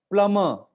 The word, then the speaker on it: plumber: PLUMBER प्लम्बर, बॉ भी नहीं है, रॉ भी नहीं है, प्लम्बर।